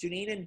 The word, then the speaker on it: Dunedin: Floridians, how's it pronounced? Dunedin.